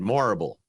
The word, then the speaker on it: Morrible: Michelle Yeoh has reportedly boarded the Wicked adaptation in a key role too as Madame it's Madame Horrible, but with an M instead. Morrible.